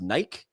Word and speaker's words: Nike: It's a little company called, I believe it's pronounced Nike. Is it Nike? Oh, it's Nike.